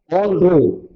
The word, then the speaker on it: en route: on route എന്നാണ് അതിന്റെ pronunciation.